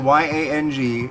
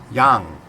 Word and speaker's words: Yang: running for president in the primary Andrew and it's spelled Y ang and everybody pronounces it yang it's not pronounced that way it's Jung not Yong Yong just so you know drives